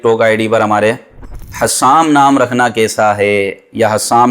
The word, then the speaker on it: حسام: بڑی تکلیف دیتی ہے۔ بہرحال حسام یہ ہے صحیح تلفظ۔ حسام کا مطلب ہوتا ہے تیز تلوار یا تیز تلوار کی دھار، حسام، تو یہ صحیح تلفظ ہے۔ حسام نام رکھیں، حسام